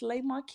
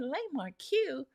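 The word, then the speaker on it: La Marque: And with our culture, the way it's spelled, you will say, yeah, it is Le Marque. And we kept saying Le Marque.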